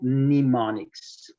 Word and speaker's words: mnemonics: you learn and so it is called mnemonics m is not pronounced okay good so we